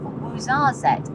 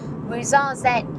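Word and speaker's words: Ouarzazate: But we are off to the town of Wuzzette. And yes, I have Googled that pronunciation. Wazarette is a gorgeous looking town.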